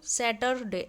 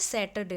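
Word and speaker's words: Saturday: ऑन सैटरडे there was a Christmas party at school on सैटरडे तो इसकी pronunciation सैटरडे ऐसे नहीं होता है सैटरडे होता है सैटरडे ऑन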